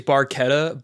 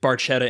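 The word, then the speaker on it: Barchetta: Uh, technically it's Barquetta, but Getty Lee mispronounces it. Bartetta in the song.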